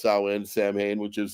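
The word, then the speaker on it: Samhain: before Halloween it's called sa in well it's pronounced sa in Sam Hayne which is like the original Halloween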